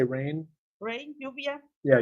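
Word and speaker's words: lluvia: called yeah how do you say rain rain yuvia yeah yuvia mhm UIA that's right and it's gonna be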